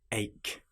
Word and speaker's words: ache: For example, the word ache has a ch in it, but it is pronounced like a k.